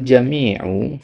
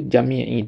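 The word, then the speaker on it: جميعُ: Bal jamiu ya. Jangan dibaca jamii tiba-tiba huruf jarnya mana ya.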